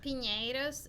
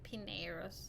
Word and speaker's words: Pineiros: say your last name Pinos is in Spanish but in English most people call it pineros pineros okay yeah I